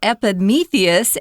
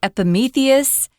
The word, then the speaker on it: Epimetheus: but you're going to hear it and that's Epimetheus Epimetheus and Prometheus and their brothers so we're going